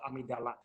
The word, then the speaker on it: amygdala: I pronounce amygdala.